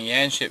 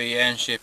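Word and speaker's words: Yanchep: And I'm leaving Yanship in about 5 seconds. Now if you want to know where Yanship is, go onto Google Earth and type in Yanship, and that's spelled Y-A-N-C-H-E-P.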